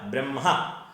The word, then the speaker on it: ബ്രഹ്മ: അവിടെ ബ്രഹ്മ എന്ന് ദീർഘമില്ല, ബ്രഹ്മ. പരം ബ്രഹ്മ അല്ലെങ്കിൽ പരബ്രഹ്മ രണ്ടും ശരിയാണ്. അപ്പോൾ ഇവിടെ ദീർഘമില്ല.